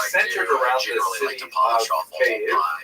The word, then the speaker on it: Kyiv: That's the Ukrainian pronunciation, by the way. That's favored today because, of course, Ukrainian is the dominant language in the country. But it used to be called in English Kiev, which is closer to a Russian pronunciation because Russia dominated much of this area in the modern era.